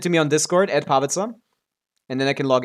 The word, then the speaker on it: Pavica: It's pavitza. Pavika. Everyone thinks it's pavika, but I say pavitza.